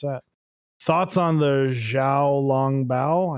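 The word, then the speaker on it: 小笼包: the xiao long bao i think that's is that how you say it the dumpling with the soup inside right let me make sure like am i saying that okay soup dumplings yeah you said you said it right uh my thoughts on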